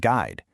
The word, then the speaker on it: guide: That U is basically a silent bodyguard for the G in words like guess, guitar, and guide. It makes sure the pronunciation stays on track.